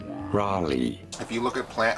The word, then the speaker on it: Raleigh: of this but I'm heading towards relay North Carolina how do you say it Raleigh Raleigh if you look at